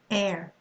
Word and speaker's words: heir: You're not going to say honor, you're going to say honor, honest, honesty, air, heiress, hour, See, we can't hear, I mean, we mustn't hear the H pronounced here.